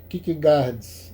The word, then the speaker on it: Kierkegaard: o que é que o sor kck gards né a pronúncia é muito diferente da das letras que tem né né e ele é